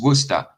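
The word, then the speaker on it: Worcester: right sauce I love it's actually just Worster we just call it Worster sauce but it's spell War sister yeah yeah it's um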